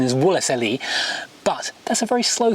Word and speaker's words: Wolseley: Mumble it into woley I realize the correct pronunciation is wolle but that's a very slow thing to say